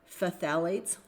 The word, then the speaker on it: phthalate: And phthalate is spelled ph a l a t-s. It sounds like fthalates. It's a weird word.